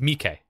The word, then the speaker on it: Miki: So it's Mike. Mike. It's Mike. Mike. It's like the important part is at the end. It's like Mike.